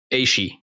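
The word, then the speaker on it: Ashe: This character's name's correct pronunciation probably annoys some of you. Aishi.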